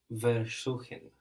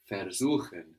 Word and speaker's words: versuchen: Versuchen. Versuchen. It's spelled with a V, but that V is an F.